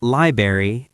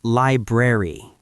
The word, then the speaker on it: library: Library, not liberry, it's library.